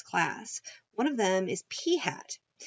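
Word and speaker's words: p̂: one of them is P hat P hat notice how that looks it looks like a little p with a little hat on top of it P hat is the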